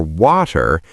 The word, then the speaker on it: water: We turn the T into a D, a fast, soft D. Water, water. My tongue just taps the roof of my mouth very quickly.